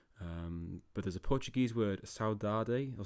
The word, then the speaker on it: saudade: There's no direct translation into English, but there's a Portuguese word, saudade, or saudage, I think, if I get my Portuguese pronunciation right.